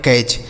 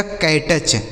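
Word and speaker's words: catch: लिखा है कैच यानी इसका सही उच्चारण हो जाएगा कैच अगर कोई नया बच्चा होगा तो यह इसे क्या पढ़ेगा इसे पढ़ेगा कैटच क्या पढ़ेगा कैटच लेकिन इसे कैटच बिल्कुल नहीं पढ़ते हैं कैच पढ़ते हैं ठीक है समझ गए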